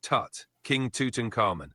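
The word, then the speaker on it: Tutankhamun: king's name properly haha love the enthusiasm it's pronounced Tut King Tuton caran or just King top for short all right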